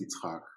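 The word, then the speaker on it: יצחק: So I was actually named Isaac, which in Hebrew is pronounced Yitzhak, after my grandfather, and which is the tradition.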